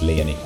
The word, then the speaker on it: Lyonii: actually how it's pronounced, but I took the end part of that name and I twisted the way you pronounce it. It's just Leani.